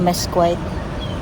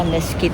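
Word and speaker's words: mesquite: Akala ko mes quite yun pala meskit. Dapat yung pronunciation niya.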